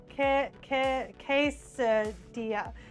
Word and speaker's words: quesadilla: Quesadilla. When it is just pronounced like a Y.